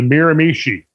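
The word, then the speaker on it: Miramichi: least eastern canadian history it was the miramishi i think we got that pronunciation right didn't somebody from that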